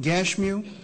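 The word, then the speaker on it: Gashmu: sand ballot and gersam now some people pronounce that gash you'll find he is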